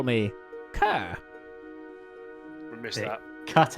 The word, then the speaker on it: Ker: would then say, "But you can call me Kerr." We missed It that. cut out when you Can't said the hear. name. Oh, you can The call me accent doesn't go too Kerr.